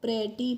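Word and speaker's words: pretty: तो पी आर E double T वाई को हम प्रैटी पढ़ते हैं।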